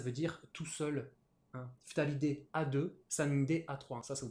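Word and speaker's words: 二人: quatre personnes, cinq personnes, on va avoir une particularité de prononciation sur les deux premiers. En fait, on va lire tout ça en purement japonais. Ce sera hitori et futari.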